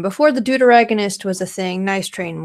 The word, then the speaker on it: deuteragonist: like doot in deuteragonist it's deuteragonist like antagonist deuteragonist is like spelling duet but you switch the U and the E and then er eh goodness that's nice about deuteragonist deuteragonist that is how you say it but for short